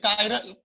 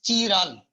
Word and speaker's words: chiral: Some may pronounce as chiral, right? But actually it is chiral carbon.